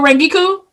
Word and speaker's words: Rangiku: Rengiku, It's like, yep, why do you Rengiku, stress his name like that? Is it Rangiku? yep, Giku Matsumoto.